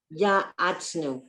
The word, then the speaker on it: ya'atznu: Yahatznu, Ya'atznu, the ayin okay. is silent.